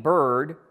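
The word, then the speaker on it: Byrd: of the judges was named Adelaide bird which rhymes with absurd which is a lot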